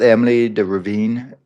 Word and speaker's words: Emily de Ravin: gave that I thought Emily de Ravine that's how we say her name I thought she was